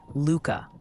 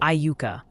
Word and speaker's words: Iuka: Iuka, Kansas is apparently Luka, like the basketball player, not Iuka. That's the Mississippi version.